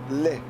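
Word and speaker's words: Lai: Joseph Lau, I think it's Lau, but I'm probably going to be told it's Lee. L-A-I? How would you pronounce it? You're the English school teacher, my friend. You tell me how to pronouse the English language properly. So that technically is Li.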